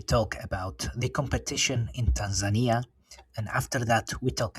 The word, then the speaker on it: Tanzania: one of the first, or I should say Tanzania, right? Yeah, That's the right way to pronounce it.